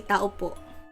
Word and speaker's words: tao po: No, because in Tagalog, you just say tao po. It's like to... Hello, I am a taupo as well. No, you don't I'm say it like that. If you say that, you say tao po ako.